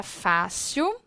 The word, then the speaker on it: fácil: observada dentro da palavra fácil eu tenho aqui fácil a sílaba tônica qual é o fá só que a palavra